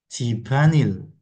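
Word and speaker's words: 집안일: 11 ya teman-teman jibanil nyambung dibacanya jibanil ini artinya adalah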